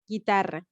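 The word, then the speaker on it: guitarra: a strong r they will have a double r and they will be pronounced as guitar guitar do you notice the the r is very strong guitar guitar in english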